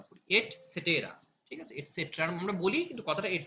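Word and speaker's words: et cetera: ইত্যাদি হ্যাঁ মানে এবার ইংরেজিতে কি বলে সেটা এটসেট্রা এটসেট্রা এটার উচ্চারণ হচ্ছে এট সেটেরা এটা কোন ইংরেজি ওয়ার্ডই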